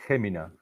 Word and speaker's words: Jumilla: way that you pronounce the H or a J, Gemina, Gemina.